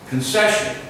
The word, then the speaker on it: concession: Concession. Concession. It's almost like the C in that, with the second C in that word is an S. Concession. It's C-O-N-C, but it's pronounced like C-O-N-S.